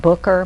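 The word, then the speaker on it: Bucher: Now, there's a sign we put up every Thursday morning on the door on, I believe they pronounce it Booker, B-U-C-H-E-R.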